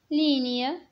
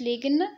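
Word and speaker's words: ligne: لينيا. لينيا خط. الجي هنايا ما كتنطقش، ما كنقولوش ليغن، كنقولوا لينيا خط.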